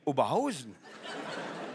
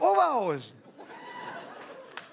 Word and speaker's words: Oberhausen: Da heißt doch nicht Oberhausen. Das ist doch Oberhausen. Man sagt ja nicht Osnabrück. Es ist Osnabrück. Kalorien.